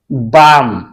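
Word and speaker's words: balm: इसे हम पढ़ेंगे साम इसके बाद आगे है बी ए एल एम अब बीच में क्या आ गया ए एल तो इसे हम साइलेंट रखेंगे बाम ए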